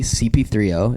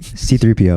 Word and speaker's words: C3PO: valid, I thought that in this movie, CP3O, is that how you say it? C3PO. C3PO. I thought his character was kind of like treated poorly.